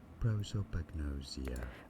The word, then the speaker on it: prosopagnosia: English, it is normally pronounced as prosopagnosia.